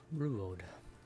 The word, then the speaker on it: Ruewode: Ruewode. It's pronounced like it was spelled.